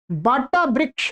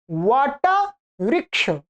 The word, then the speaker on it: वट: नहीं है, वृक्ष वृक्ष, वट वृक्ष, वट वृक्ष, ध्यान रखेंगे, ये व है ब नहीं है, ये गलत उच्चारण होता है आपसे, ठीक है।